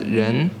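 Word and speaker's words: 人: the word phone number this is a Chinese character pronounced as Jen and it means a person it looks like a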